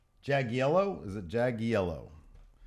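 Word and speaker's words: Jagiello: Jag yellow. Jag yellow. Is it Jag yellow? Sounds like I'm saying Jag yellow. Like a yellow Jaguar car.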